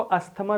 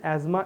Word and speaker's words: asthma: ठीक है ना, वैसे तो इसको अस्थमा भी कहते हैं बट सही प्रोनाउंसिएशन एज्मा इसको कहा जाता है बच्चों।